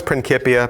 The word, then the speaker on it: Principia: the title is Principia and they know it's Principia because that's how they pronounce it in the trailer pretty kitty I